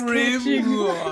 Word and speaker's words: grimoire: say we got so many comments about correct pronunciation. I just thought it was funny, and then I say it. It's Grimoire.